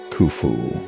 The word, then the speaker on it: Khufu: protect me 1112 while modern egyptological pronunciation renders his name as kufu at the time of